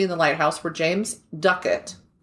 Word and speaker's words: Ducat: I was pronouncing it Ducat because it's D-U-C-A-T, and then I listened to a video by a person actually from Scotland, and they were like, Ducat, and I was like, oh, I had no idea. I've pronounced that name wrong throughout history then.